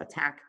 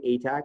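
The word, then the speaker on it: ATAC: attack seek is pronounced attack because you're actually attacking the genome ok some people say a tag the time to but attack is how it was originally intended to be pronounced everybody with me so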